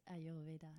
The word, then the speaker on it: Ayurveda: So let's get into the Ayurveda. Am I pronouncing that correctly? Yes, Ayurveda.